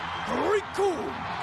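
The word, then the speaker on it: Recoome: As Rikum was saying, the name's Rikum. It rhymes with doom.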